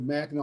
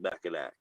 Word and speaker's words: Mackinac: or murder you know a big thing with mackinac island is the pronunciation i don't know if you can can